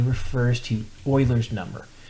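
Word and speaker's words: Euler: The difference here is the the E and that letter E refers to Oilers's number. Now, Oiler is spelled Uler.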